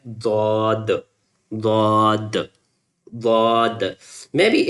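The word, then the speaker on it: ضاد: When you touch the left side of your tongue lower with the lower teeth on the side you can pronounce it easily as like Dad.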